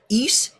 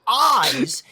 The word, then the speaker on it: Is: However, in the Japanese versions of the game, Is is spelled with the 2 katakana letters E and Zu. If it were pronounced eyes, it would be spelled with the 3 katakana letters A, E, and Zu. So it is indeed pronounced Is.